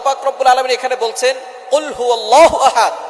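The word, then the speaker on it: قُلْ هُوَ ٱللَّهُ أَحَدٌ: আল্লাহ পাক রাব্বুল আলামন এখানে বলছেন কুলহু আল্লাহু আহাদ। এখানে কফ দিয়ে পড়ছেন কিন্তু অনেকেই ভুল করে উচ্চারণ সঠিক না হওয়ার কারণে তারা পড়ে কাফ।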